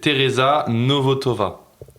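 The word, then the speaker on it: Tereza Nvotová: C'est Tereza Novotova. En fait comment c'est écrit c'est un peu compliqué à prononcer.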